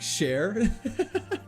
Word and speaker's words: Chair: Chair, but pronounced like share.